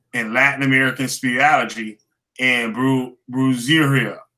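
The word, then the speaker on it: brujería: the American voodoo, and Latin American spirituality, and brujeria.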